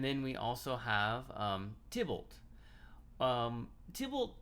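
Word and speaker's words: Tybalt: um tibolt um table i've heard this pronounced uh several different ways um thiebault i've heard it i it could maybe even pronounce the tie bolt i don't know but usually i call him uh tibbled so go ahead and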